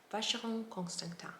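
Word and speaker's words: Frédérique Constant: and it is pronounced facial constant it is pronounced uh in a french way again and i find those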